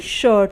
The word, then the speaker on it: shirt: तरीके से शर्ट, SHIRT, शर्ट। तो इसमें भी I है और I के बाद R है तो I का उच्चारण अ होगा।